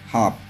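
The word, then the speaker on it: half: H silent हो जाएगा ठीक और नेक्स्ट लिखेंगे हाफ एल साइलेंट है एल काप काल फ है काफ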